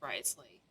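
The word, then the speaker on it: Wriothesley: personal dealings with the administrator of the Fortress Risley he's a very shrewd fellow so it is pronounced risely okay yeah we heard about him too he's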